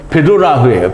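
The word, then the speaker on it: בדולח: 실제로 발음은 베도라흐예요. 베도라흐.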